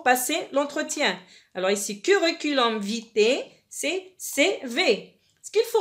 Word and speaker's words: vitae: Ça s'écrit ici vitae, ça se prononce vitae.